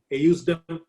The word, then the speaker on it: ejusdem: In Latin, the letter J is not there. So it is actually pronounced as ejusdem generis.